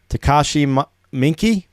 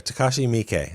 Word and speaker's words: Takashi Miike: Takashi Miike? Halfway there. Takashi Miike. That's how you pronounce it.